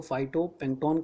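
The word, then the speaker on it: phytoplankton: कह सकते हैं इसको, तो अमेरिकन इंग्लिश में इसको फाइटोप्लैंक्टन कहते हैं और ब्रिटिश इंग्लिश में फाइटोटो नहीं कहा जाता, फाइटीप्लैंक्टन इस तरह से कहा जाता है।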